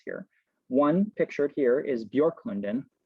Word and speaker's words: Björklund: One pictured here is Björklund. Yes, that's how you pronounce that, Björklund, Swedish for Birch Grove by the lake.